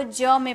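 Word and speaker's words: gym: है तो जी को ज में पढ़ते हैं जैसे जी वाई एम वाई से पहले आपका जी का यूज किया गया है तो इसे ज में पढ़ेंगे तो हो जाएगा जिम जिम ओके जी ई एम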